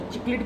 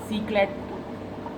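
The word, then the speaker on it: cichlid: जो एक्चुअल है फैमिली चिकलिडी से जो उनका है, वहाँ से इनको चिकलिड कहते हैं। सीक्लेट तो बिल्कुल ही नहीं कहते, और भी सीक्लिट भी कुछ लोग कहते हैं, जो कि गलत नाम बोलते हैं।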